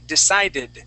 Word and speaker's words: decided: but here down below we do say decided but that's only if it ends with a D or a t sound okay now class I